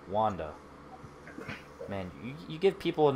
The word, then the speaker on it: Wanda: is it wanda well i think we really would stress the second a it would be wanda wanda there's no r it's really the r